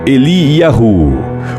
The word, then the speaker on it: Eliyahu: O nome Elias é pronunciado em hebraico Eliyahu, por vezes Eliá, que tem por significado "O Senhor é o meu Deus".